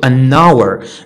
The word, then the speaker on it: hour: اوكي honest owner ear herb، يعني هنا ال h ما كتنطقش.